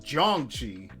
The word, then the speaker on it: Jiangshi: So it's pronounced Jiangxi.